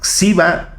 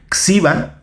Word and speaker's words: GXIBA: El satélite se llama Xiba 1. Espero estarlo pronunciando bien porque se escribe con una G al principio. Es GXIBA. Xiba, desarrollado por la Universidad Popular Autónoma del Estado de Puebla, la UPAEP.